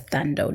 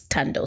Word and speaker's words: Thando: I know people may pronounce it as Thando. No, it's Tando, silent H.